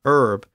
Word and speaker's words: herb: So words like honor, honest, hour, as in the time of day, heir, as in someone who inherits property, and herb were spelled with their silent H.